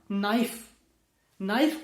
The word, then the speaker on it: knife: अगर KNIFE नाइफ होता है तो के कहां गया।